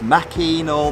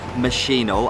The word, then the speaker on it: Machinal: this throughout its life whether it's Mackie nor machine or although I read a quite a definitive article saying it is machine oh and that is the way that playwright intended it to be pronounced so you say throats